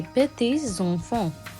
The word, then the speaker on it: petits-enfants: Here S, we pronounce it in a continuous manner. Les petits-enfants.